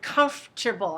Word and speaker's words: comfortable: trouble with the word comfortable I want to help you with this word so this word comforable just say three word three three syllables comfortable comtable and then the negative